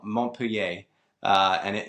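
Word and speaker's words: Montpellier: I don't know if it's southwest or southeast, but it's definitely southern coast and spelled like Mont Pelier, but they call it Mont Pier.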